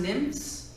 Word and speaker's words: NMFS: NMFS is pronounced NIMS, like little water nymphs, you know, in your rivers and streams.